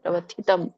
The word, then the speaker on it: ಪ್ರವ್ಯಥಿತಂ: ಪ್ರವ್ಯಥಿತಂ ದೊಡ್ಡ ಥ ಇದೆ ಅಲ್ಲಿ, ಗಮನಿಸಿ. ಉಚ್ಚಾರಣೆ ಸ್ವಲ್ಪ ಕಷ್ಟ ಆಗುತ್ತೆ. ಪ್ರವ್ಯಥಿತಂ.